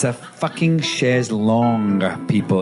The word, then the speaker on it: chaise longue: And they've spelled they've put the O and the U round and called it lounge because they think of the lounge chairs. It's chaise longue is the thing, and that drives me nuts.